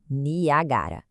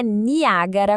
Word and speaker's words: Niagara: A uva da cidade se escreve niagara, sem acento no a. Niagara não é niagara como as cataratas, ok?